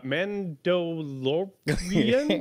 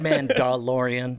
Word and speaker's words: Mandalorian: you're talking about uh men do korean i'm not familiar with this show uh it's pronounced man dalorian there's a name man